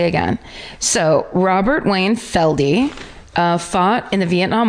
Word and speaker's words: Feld: Wayne Robert Feld uh pronounced feldy I couldn't know until I got to that part of the parentheses FLD f e l d e f okay uh